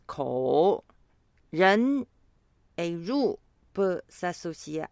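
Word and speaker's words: 口: On voit un carré au milieu qui signifie la bouche et se prononce ko.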